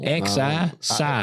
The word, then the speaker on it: Xi: X-I?